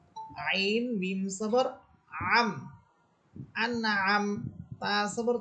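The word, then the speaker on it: أنعمت: প্রথম হচ্ছে আন, হামসা এটা শক্ত হরফ, আন হামসাকে নুনকে ধরে ফেলবে, আন। এরপর হচ্ছে আম, আইন, আইন হচ্ছে কণ্ঠনালী মধ্যখান থেকে, আইন মিম সবর আম, আনআম, তা সবর তা, আনআমতা, সিরাতাল্লাযিনা আনআমতা।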